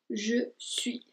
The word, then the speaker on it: je suis: Entonces se dice je suis. Entonces ahí no se pronuncia la S al final.